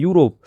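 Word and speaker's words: Europe: तो लेकिन यहाँ पे चूंकि ई आ रहा है और यू लगा हुआ है तो यहाँ पे उच्चारण यू से हो रहा है, यूरोप।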